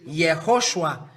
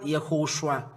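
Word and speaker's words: יהושע: So Moshe called Hoshea, the son of Nun, the child of Nun, YAHHOSHUA. You find it, YAHHOSHUA. So it's Joshua who is called YAHOSHUA. There is YAHHOSHUA, YAHHOSHUA, YAHHOSHUA.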